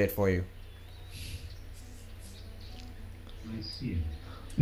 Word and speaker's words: Nicaea: Nicaea. Yeah, it's Nicaea in English.